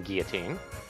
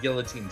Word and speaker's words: guillotine: Admittedly, with certain bastardizations, guillotine technically is a widely accepted pronunciation.